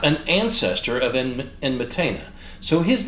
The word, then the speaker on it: Enmetena: Got his name wrong a minute ago. Enmetena, the guy who commissioned the Stele of Vultures, and a couple of other record inscriptions.